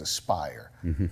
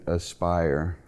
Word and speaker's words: Aespyre: doing sculpture the name of your company is aspire spell it and then tell me why you spell